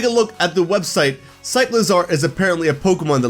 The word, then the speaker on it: Cyclizar: the games, and it's Cyclizar. I believe I'm pronouncing that right. It's a cycle and a lizard, Cyclizar.